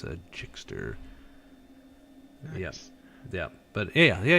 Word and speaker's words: Gixxer: know it's crazy but pronounce the g like a j mr jickster ah i see so